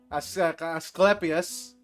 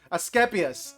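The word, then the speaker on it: Asclepius: Askepius. Askeepas. Okay. L is silent.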